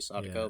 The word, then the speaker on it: Sadako: I think pronunciation's usually, the emphasis is usually on the first syllable, so probably Sadako, but I could be wrong.